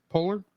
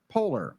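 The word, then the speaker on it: Poehler: personal personalized emotions um Amy how do you pronounce her last name Polar Polar yeah polar Amy polar reprise her um her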